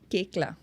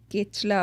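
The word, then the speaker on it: Koechlin: actress वास कल्कि कोचिन केकला कल्किला कल्कि कोकला केकला I found this through her Instagram she herself said it's नॉट केथला और कोकला और कोकन इट्स रिटन कोकलिन या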